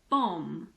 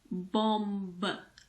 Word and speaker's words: bomb: at the letter B we usually don't pronounce the b if it's after m at the end of a word for example bomb it's not bomb the last sound is M so just pretend that